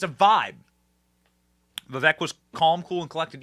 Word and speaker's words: Vivek: say his name correctly it is Vivek like cake everyone said it wrong